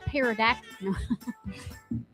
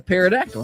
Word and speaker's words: pterodactyl: What's a pterodactyl, huh? I messed up the whole joke. I know it's not a pterodactyl. Why can't you hear a pterodactyl go into the bathroom? Get the P is silent, Holly.